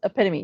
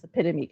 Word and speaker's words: epitome: So it's epitome. Yes. Epitomy.